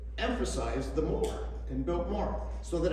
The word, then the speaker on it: Biltmore: so we used uh we used to always emphasize that second syllable kind of like how Oscar did today when he introduced us uh we are built more power more power and